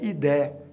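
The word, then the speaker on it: idae: em latim e que termina sempre em i Idi você pronuncia idé então no caso da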